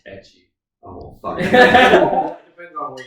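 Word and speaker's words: ecchi: I know what Ichi is. Yeah. Okay. It's pronounced etchy.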